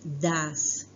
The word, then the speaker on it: does: Se escribe así, pero se lee das. Este se dice do y este das, ¿sí?